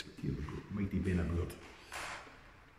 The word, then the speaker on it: Beinn a Bhuird: Benabourd is often how you hear it pronounced, but I've been reliably informed by my